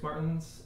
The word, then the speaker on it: Martens: and I'm here with two great people Chris Martins and Rob Simmons am I pronouncing your names right absolutely great and uh